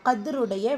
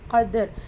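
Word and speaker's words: قدر: சுக்குன் கரியா சேர்த்து சொல்லணும் கதர் லெட்டர் காப் வந்து வலி எழுத்து அதற்கான உச்சரிப்பு கொடுத்து ஓதணும் தால் சுக்குூன் பேச்சு வந்திருக்கு கல்கத்து சுகரா சிறிதாக அசைச்சு ஓதணும் வசனத்துடைய முடிவுல ரா கெஸ்ரா பிச்சு வந்துருக்கு.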